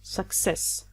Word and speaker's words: success: Don't say 'SUccess and of course it's a noun, so the stress is always here on the second syllable su'CCESS.